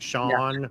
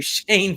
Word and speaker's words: Shawn: It's pronounced Shawn. Okay. Hey, all right. Okay. So I greatly apologize. We've been calling you Shane for how long?